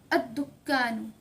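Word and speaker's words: الدكان: अलिफ लाम ड करेंगे तो लाम को प्रोनाउंस नहीं करेंगे तो अल दुकान यानी कि द शॉप का अल दुकान क्या हो जाएगा अ दुकान ठीक है ऐसे ही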